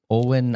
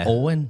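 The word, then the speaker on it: Éowyn: it to miss storm Owen alen how do you say that name it's got really weird spelling sounds like storm Owen yeah we get January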